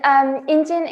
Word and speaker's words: Ingine: Oh, then Ingine is the combination of two syllables. So you have in, which is the traditional, I would say, sign for a human being, a person in Korean or Sino-Korean. And Jin comes from engineering.